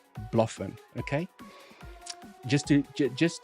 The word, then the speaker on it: BloFin: zoom I see a lot of people say Blen okay it's not Blen I've spoken to the team the CEO of Blen it is pronounced Bluffin okay just to ju just to make sure